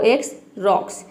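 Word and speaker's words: X-ray: वो है एक्सरे। यहां पे देखिए वर्ड के शुरू में एक्स आया है लेकिन यहां पे एक्स को हम ज नहीं प्रोनाउंस करते।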